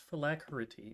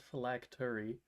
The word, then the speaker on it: Phylacrity: And it's Phylacrity, not Phylactery. That's how they chose to spell it.